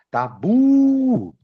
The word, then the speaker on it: tabu: A palavra tabu é uma oxítona. Quando eu chamo, ó, tabu.